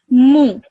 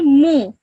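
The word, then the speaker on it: مُ: me okay that okay so you would pronounce this one over here as Mo can you say that yeah can say that after me moo mo mo okay Mo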